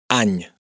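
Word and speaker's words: any: nada de particular, pero tenemos la combinación n y que se pronuncia como la ñ del castellano. Piñe, piña, caña, caña. Recordemos que en catalán es posible tener a cualquier consonante en posición final de palabra. Añ, año, añs, años.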